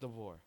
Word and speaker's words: DeBoer: I think DeBoer, yes, DeBoer.